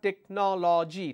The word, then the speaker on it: technology: I have technology, technology. The correct pronunciation is, it's not technology, it's technology. So if I have technology, the pronunciation technology has 4 syllables, technology, technology, 4 syllables.